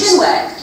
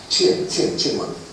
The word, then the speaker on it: chinwag: It's not really shinwag. Chinwag.